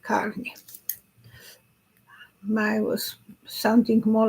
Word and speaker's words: Carney: Like it's a car and New York, Carney.